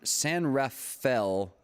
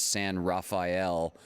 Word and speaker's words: San Rafael: uh which san san san rafael california i had to say wrong like 300 times as san raphael insert your favorite renaissance painter or teenage mutant ninja turtle here for justification of my mispronunciation but yes we have